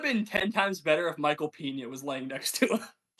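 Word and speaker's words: Michael Peña: Nate also cannot pronounce his name, which makes it even funnier. Oh yeah, it's Michael Pena. Michael Pena. Michael Peanut.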